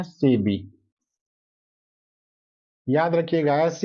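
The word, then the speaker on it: SEBI: हां इसको पढ़िए इसको इसको हम एसबी एस ईबी आई नहीं पढ़ते हैं। ये ध्यान में रखिएगा। इसको एस ई बी आई नहीं पढ़ते हैं। इसको हम पढ़ते हैं सेबी।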